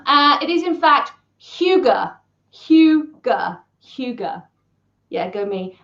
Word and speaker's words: hygge: did not Sam uh it is in fact Huga Huga Huga yeah go me and we have